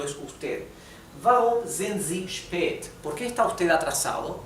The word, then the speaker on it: spät: La A con la diéresis se pronuncia como un poco más larga.